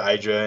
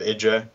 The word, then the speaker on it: IdrA: him noni arctos is calling hydra hydra instead of idra because i think artos